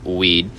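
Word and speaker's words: Wead: biographer Douglas weed huh jokes pronouncing w-e-a-d from Douglas weed as weed uh he wouldn't want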